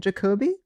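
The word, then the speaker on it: Jacoby: Jacobe.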